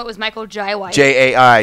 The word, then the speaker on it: Jai: J-A-I. Is it J or Jai? I've heard it pronounced Jai.